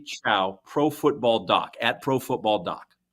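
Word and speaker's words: Chao: David, how do you pronounce his last name again? I believe that's Chow.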